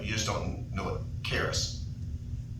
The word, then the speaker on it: charis: The I is a long E.